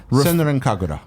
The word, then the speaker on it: Senran Kagura: Senran Kagura.